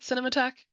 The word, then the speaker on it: Cinematheque: Pete, is it Cinematheque?